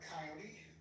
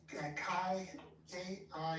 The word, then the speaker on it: Kioti: Okay, look up coyote. So they're pretty good. Like, I actually talked to a bunch of mechanics about them. Coyote. It's spelled weird. It's K-I-O-T-I or something like that.